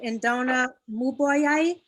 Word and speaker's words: Indonesia: uh audio uh we'll move on to indonesia if i'm saying it right in donna yes you are tonight you got it